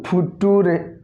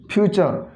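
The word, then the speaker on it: future: आ गोटे एग्जाम्पल एवं मनकर एफ यू टी ओ आर ई यहीटा गोटे गोटे पिला पढ़ी दिखती फुटुरे किंबा फुचुरे भी पढ़ी दिखती किंतु यार करेक्ट प्रोनाउंसिएशन होची फ्यूचर।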